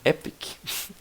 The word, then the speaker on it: EPC: Também pronunciado como Epic, pode ser pronunciado como Epic.